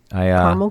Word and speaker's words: caramel: Oh, I don't like caramel corn either. Caramel corn? I guess it's pronounced both ways, but there is an A in the middle, so I throw the caramel in.